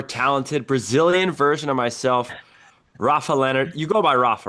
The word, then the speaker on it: Rafa: a younger, more talented Brazilian version of myself, Rafael Lenhard. You go by Rafa, right? Or Rafa? I mean, Yeah, Rafael is okay too, but generally, Rafa is okay.